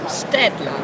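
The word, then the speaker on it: Staedtler: Stedler.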